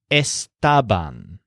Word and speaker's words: estaban: the pandas here is Esteban so if you think stabbed pandas and then run that together it's like Stubb on so es ta ba